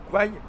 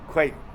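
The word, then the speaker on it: แคว: Parce que Kwai, que nous on prononce Kwai comme ça se prononce en thaïlandais, ça se prononce Kwe. Kwe.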